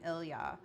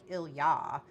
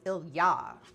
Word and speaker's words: Ilya: It's more like ilya. and the um so that like that that the major emphasis is on the other half right so um so